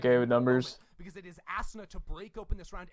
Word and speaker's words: Asuna: say the ass part of us so hard asana that's how you say it yeah it's the